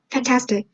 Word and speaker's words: fantastic: For example, when you say the word fantastic, the primary stress is on the middle syllable task.